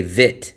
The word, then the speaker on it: Vietnam: I hear so many Vietnamese people leave out the e. They don't say v it. They say vit vit Vietnam Vietnam Vietnam.